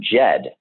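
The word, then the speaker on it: Djed: and it comes from the root word Jed and Jed is spelled DJ D and the Jed represents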